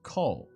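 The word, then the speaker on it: 工: It's pronounced ko, and it means like make, like industry or like carpentry, measuring, that kind of thing.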